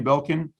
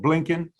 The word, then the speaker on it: Blinken: Meaning, yesterday, I think 60 Minutes was done, a few days ago with Anthony Belkin. I'm pronouncing his name wrong, Blinken.